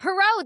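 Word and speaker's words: Poirot: Pero.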